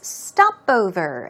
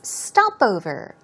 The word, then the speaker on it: stopover: The first vocab word we have for you is stopover. As you see, the stress goes where? Right there on the first syllable. It's stopover.